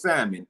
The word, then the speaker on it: salmon: me I know it's salmon I know the L is not pronounced I've said Salon I